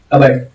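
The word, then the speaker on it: cupboard: जब इसको गैदर के अदर इकट्ठा किया गया तो पी एच को वहां पे साइलेंट कर दिया गया। और क्या बनाया गया? कवर्ड।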